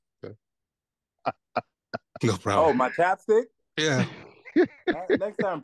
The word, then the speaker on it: ChapStick: no problem Oh my Chapstick yeah next time pronouncing correctly sorry sorry sorry sorry American child your your Chapstick it's chapstick chopck it's not Chopstick Chopstick I was thinking